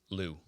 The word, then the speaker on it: Liu: Liu. Last name, Liu. Liu? Lorenzo Liu. Is that how you pronounce it? L-E-W.